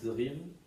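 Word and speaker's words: DRI3V19: Sa chaîne, c'est DR, ça s'écrit DRI 3V19, pardon. Donc ça se lit Drive.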